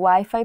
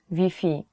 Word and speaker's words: Wi-Fi: will not understand you so you have to change the wi-fi pronunciation even though the word is the same the spelling is the same you have to change wi-fi to vp so if you're looking